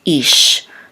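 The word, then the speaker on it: איש: So Noach, and this is an aleph, which is silent, and this is a chirik, which says e, along with the yud, it'll say e, and then this is a shin, so this says ish.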